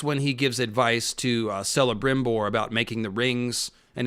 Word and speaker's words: Celebrimbor: So I didn't mean to turn him into celery. He's very tall, but that's, Celebrimbor, thank you.